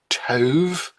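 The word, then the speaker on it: טוב: According to Psalm 25, verse 8, good, that is the Hebrew word taub, which is pronounced tov, good and upright is Yahweh.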